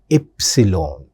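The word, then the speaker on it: Ypsilon: This one we call it as epsilon. The pronunciation of this letter epsilon. In English we call it as Y. In German we pronounce it as epsilon.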